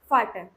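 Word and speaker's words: Vater: जैसे कि फाटर, ठीक है, उसको वाटर नहीं पढ़ेंगे, उसको फाटर पढ़ेंगे।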